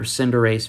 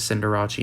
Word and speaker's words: Cinderace: we have the cinderacci or cinderace vmax one of my favorite youtubers wolfy vgc he always says cinderacci and i i am a huge fan of